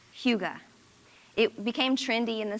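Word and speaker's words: hygge: There's a Danish word spelled hy gge but pronounced huga.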